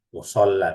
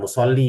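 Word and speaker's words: مصلى: perlu kita ingat-ingat adalah ketika ada huruf ya seperti ini. Nah, ya-nya enggak ada titik. Saya ingatkan kembali berarti membacanya fathah ya sebelumnya. La musolla bukan musolli ini ketika ada ya terus ada titiknya. Nah, berarti membacanya kasrah.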